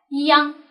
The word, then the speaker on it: 央: ，央啊，央呢是一个后鼻韵母的一个发音了啊，昂是一个后鼻韵母的发音。